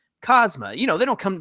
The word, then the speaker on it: Kazuma: Now, if there's anything I know from watching AEW and New Japan Pro Wrestling, it's that sometimes that U in the second syllable is silent. So I believe it's Kazuma.